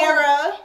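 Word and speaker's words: Mierah: Okay, so my name is Mira. Yeah. My Instagram name is Mira G. Let me spell it for y'all, because y'all know how to spell that name.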